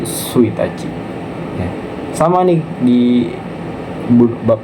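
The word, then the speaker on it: 一日: sesuai dengan objeknya kayak kemarin contohnya tanggal ya tanggal itu dia pakai pelafalannya sendiri tanggal 1 bukan icinici tapi suachi ya sama nih di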